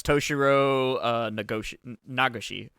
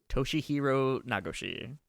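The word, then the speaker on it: Toshihiro Nagoshi: Yeah, so that's Toshiro Nagashi. Yeah, so he started his own studio. Toshihiro, mispronunciation. Yeah, let's see. Toshihiro Nagashi.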